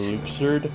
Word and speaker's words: Luxord: Luxord, his name is pronounced Luxord.